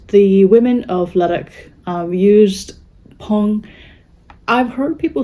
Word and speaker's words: Phang: It is made of, it is a Pong spindle. I thought of Halloween because it's spelled Fang, and I thought, ooh, I could grow fangs for Halloween.